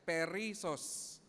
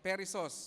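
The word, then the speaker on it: περισσός: word in Greek and the word is perisos okay or perisos yun ang pronunciation at alam mo ang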